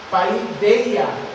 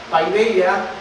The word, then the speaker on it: paideia: otra palabra en el griego, y esta palabra se escribe así, es la palabra paideia, con acento, y esto significa enseñar con dolor o aprender con sufrimiento. La palabra paideia en el griego, paideia, significa enseñar con dolor, aprender con sufrimiento.